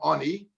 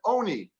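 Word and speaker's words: עֹנִי: We don't read it as lechem ani. We read them as lechem oni.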